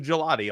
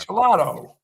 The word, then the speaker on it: gelato: I thought it was a gelat all this year or all this time. Gelato.